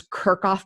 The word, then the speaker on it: Kirchhoff: I'm Kirchhoff. Rhymes with jerk off, just go on with it.